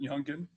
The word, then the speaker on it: Youngin: Now, the rap video "Do It" that was done by Youngin Ace, is that how he pronounces it, Youngin?